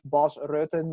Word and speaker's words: Bas Rutten: It's Melvin Manhoef, Bas Rutten. You know, the Yeah, guys from the Netherlands always get their name pronounced wrong by English speakers.